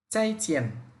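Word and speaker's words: 再见: এখানে খেয়াল করেন এখানে দুটি ফোরটন চাই এটাও ফোরটন চিন এটাও ফোরটন আমাদের টোনের রুলস ছিল রুলসটা ছিল দুটি ফোরটন পাশাপাশি আসলে প্রথম টোনটাকে সেকেন্ড টোনে বলতে হবে পরেরটা যা আছে তাই থাকবে তাহলে আমাদের এখানে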